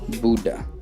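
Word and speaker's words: Bodø: one of the northernmost airports in the world buddha as they pronounce it to cycle one of norway's most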